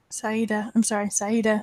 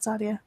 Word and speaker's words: Saida: Saida, not Sadia.